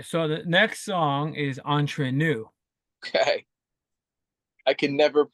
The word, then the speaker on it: Entre Nous: It's Entre Nous, like if with a French accent. Yeah, Entre nous. Entre Nous. Yeah. I have no idea, but that's the next song, Entre Nous.